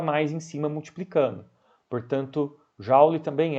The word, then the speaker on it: joule: É assim que se pronuncia em inglês, apesar de que no Brasil é muito comum as pessoas falarem Joule. Lê o OU como se fosse um A aberto. Eu sinceramente não sei o motivo histórico, eu não sei se o nome do James, né, James Prescott, era Joule ou Joule, mas eu sei que em inglês se pronuncia Joule ou Joule, não Joule.